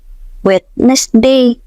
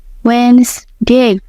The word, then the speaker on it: Wednesday: Ngomongnya tuh witness day. Aha. Nah, itu dia salah satu contoh klasik. Yang benar itu Wednesday. Jadi huruf D sama E di tengah itu kayak ngilang gitu.